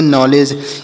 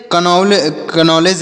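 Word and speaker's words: knowledge: जी यहां पर D silent है द का उच्चारण नहीं होगा जी ई से जो तो इसे पढ़ेंगे नॉलेज इसे कन नॉलेज नहीं पढ़ेंगे या फिर नॉलेज नहीं पढ़ेंगे डी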